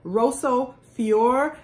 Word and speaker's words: Rosso Fiore: This color is called Rosso Fiore, and I just call it Rose Fiore, but it's spelled R-O-S-S-O, Rosso Fiore or Fiore by Patricia Nash.